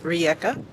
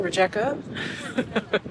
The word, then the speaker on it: Rijeka: And as I suspected, I was completely mispronouncing the name. It is Rijeka. Instead of, what was I saying? Rijeka?